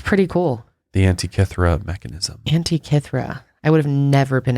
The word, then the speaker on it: Antikythera: but this is pretty cool the Antikythera mechanism Antikythera I would have never been out be able to pronounce oh I had to look it up Angie Catherine yep the Antikythera the first computer wild but